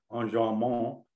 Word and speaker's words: enjambment: And in a case of enjambment, enjambement in West Texas, where David hails from, they pronounce everything French, The run-on-ness, if you will, goes from one stanza to the next stanza.